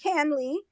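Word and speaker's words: CanLII: so that if you go to Canley it's spelled c-a-n-l-i-i .org I think it's about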